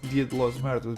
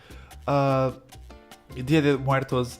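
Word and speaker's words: Día de Muertos: I have to stop call it Dia de los Muertos because it's not how you say it. Dia de Muertos inspired objects, and they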